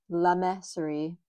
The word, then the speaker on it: Le Mercerie: I looked up the pronunciation and I have always just been really bad with French. So, it should be La Meserie, but I'm going to say it how I say it.